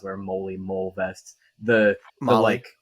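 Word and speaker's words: MOLLE: I don't know how you pronounce it. Mole vests. The Molly. Molly, it's the Molly system.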